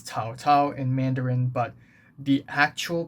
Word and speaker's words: 曹操: So, yeah, it's Cao Cao in Mandarin, but the actual pronunciation of this guy's name is Chou Chou, which should theoretically be closer to the actual pronunciation of his name 1,000 years ago.